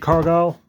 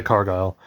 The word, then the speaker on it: Cargill: was the whole thing I picked up Jade Cargill or Cargill cargile however you want to pronounce her name I always say cargile um yeah been looking